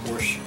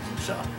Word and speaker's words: Porsche: Yeah, a lot of people here say Porsche. Because it really, that's because they think the E is silent. Well, yeah, but in German language, of course, the E at the end of the word is pronounced as a syllable, so it's sha, or sha. Sha.